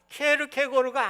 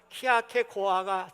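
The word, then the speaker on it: Kierkegaard: 오늘 이분이 이제 키아케고르 이제 전공을 하시고 철학 교수를 했기 때문에 이 이름 때문에 학계에서 계속 싸운 거예요. 키에르케고르가 아니다. 스웨덴 발음으로 하면 키아케고아가 돼야 된다. 그런데 뭐 계속 그걸 쓰니까 마찬가지예요.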